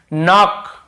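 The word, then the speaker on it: knock: आपको पता ही होगा एन के पहले की जैसे देखिए नाक नाक खटखटाना नाक नाक ऐसा था नाक यहां पर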